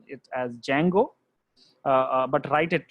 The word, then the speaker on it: Django: There is one library called Flask, and there is one more library called Django. So D is silent here, guys. So we call it as Django, but write it like this way.